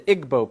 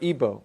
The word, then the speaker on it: Igbo: in nigeria you have the igbo people or ibo pronounced either way there's 40 million of